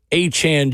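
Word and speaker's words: Etienne: And then also receiving votes was DeAndre Swift, Javonte Williams, Chase Brown, Ashton Genty, Travion Henderson, Travis Achan Jr., that is how we say his name now, and Alvin Kamara.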